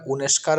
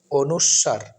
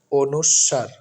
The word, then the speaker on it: অনুস্বার: বর্ণটি হচ্ছে স্বরবর্ণের এই ব্যঞ্জন বর্ণের অনেকে আমরা উনেস্কার পড়ি কেউ তো ফসন্ত বলে ফেলি কোনটাই সঠিক নয় সঠিক উচ্চারণটি হচ্ছে অনুস্বার এগুলো ব্যাকরণের বইয়ে খুঁজলে আপনারা পাবেন সঠিক উচ্চারণটি হচ্ছে অনুস্বার সাধারণত সিক্স এর বইয়ে পাবেন এই স্কুলের যে